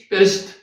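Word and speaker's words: בראשית: 지구의 시작은 언제? 네? 히브리어. 베레시. 베레시트. 그러니까 베레시트. 지구의 시작은 베레시트입니다.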